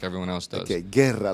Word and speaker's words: Guerra: everyone else does okay guerra like war exactly like war i'm glad you came you were part of toyota fights number 10.